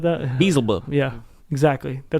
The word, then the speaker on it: Beelzebub: I think it's Beelzebub or something like that. Beelzebub. Yeah, exactly. That's how it's pronounced in the original Latin.